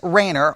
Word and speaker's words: Rainer: of your congregation and again i'm going to pronounce his name tom t-h-o-m-s rainer r-a-i-n-e-r it is it will be released on